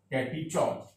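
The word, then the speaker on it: catechol: कैटीचॉल ओ है ऑ का प्रोनाउंसिएशन, कैटीचॉल।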